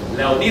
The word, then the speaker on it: Leonidas: Leonidas, that's how you pronounce it. Leonidas, you've seen 300.